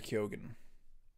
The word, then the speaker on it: Keoghan: Kogan. Does he say Kogan? Well, I was watching an interview, and Jacob Elordi said Barry Keoghan.